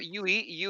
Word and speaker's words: Yue: Yue is actually the proper one.